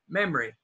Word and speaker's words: memory: here's memory that's memory actually we usually cut the middle oh and say memory memory now this e is